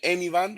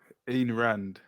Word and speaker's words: Ayn Rand: Amy Rand? What do you say her name is? Ayn Rand.